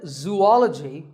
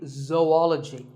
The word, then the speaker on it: zoology: do you say it if you said zoology it's actually wrong that is a very common mispronunciation this is actually zoology though and ecology zoology